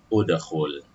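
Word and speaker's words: ادخل: Harokatnya dhammah, jadi bacanya udkhul.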